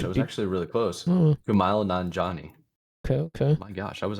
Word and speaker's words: Kumail Nanjiani: Kumail Nanjiani, I think. Jeez, good gracious. Let me do listening. Oh my gosh, I was actually really close. Kumail Nanjiani.